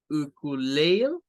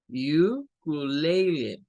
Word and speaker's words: ukulele: La otra pronunciación sería hacer U, una U larga para esta, luego Q, no con el schwa, sino con Q, Q, Q. Luego esta sonaría a leil, ukulele, Y luego la otra sílaba también como lay. Ukulele.